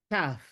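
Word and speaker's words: תו: Por ejemplo, la letra Tet, a diferencia de la Taf, que la Taf se pronuncia como una T sin poner la lengua en el paladar. Escúchese bien, Taf.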